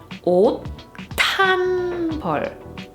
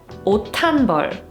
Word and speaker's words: 옷한벌: And the pronounced consonant, which is 디귿, that's the sound that gets aspirated when we read this phrase. So you would read it 옷한벌, 옷한벌.